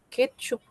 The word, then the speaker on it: ketchup: Ketchup. Ketchup. Es una palabra grave, tiene la mayor fuerza de voz en la penúltima.